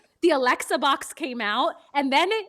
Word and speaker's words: Alexa: people's names right because my name is Alexa. It's five letters but for my entire life it's like people would be like Alexia, Alexis, Alex, like literally everything Melissa, everything but my name.